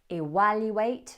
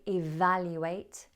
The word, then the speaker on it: evaluate: Evaluate should have been evaluate, value should have been value, and version should have been version.